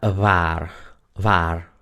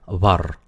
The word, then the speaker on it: waar: Waar, se dan cuenta que está escrito con dos As, quiere decir que a pesar de que es una sola sílaba, es larga la A. Si eso hubiera estado escrito con una A, se pronunciaría var. Pero como está escrito con dos As, se pronuncia waar.